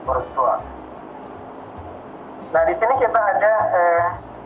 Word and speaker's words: Bourgeois: Tulisannya Bourgeois, bacanya Bourgeois.